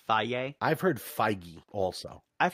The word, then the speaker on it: Feige: pronounce his name, but I just call it like the yogurt, Feige. I've heard Feige also. I've heard Feige too, but I prefer Feige. So Feige. Yeah, we're going to go with Feige.